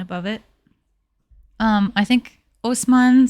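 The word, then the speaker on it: Haussmann: it's an impressive City uh Osman it has a silent h in the beginning um this man Usman re-designed all of Paris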